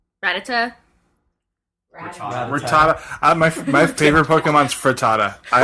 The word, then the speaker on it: Rattata: I don't know how to pronounce it. It's Rattata.